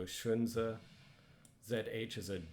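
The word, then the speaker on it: 荀子: Remember that X is a sh sound, so Shunzi.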